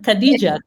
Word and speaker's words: Khadija: I was completely mispronouncing your name. Totally fine. Khadija.